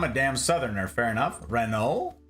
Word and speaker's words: Renault: damn Southerner fair enough Renault say Renault okay I got you yeah that's that's what I was thinking was is the French frence pronunciation we should ask ra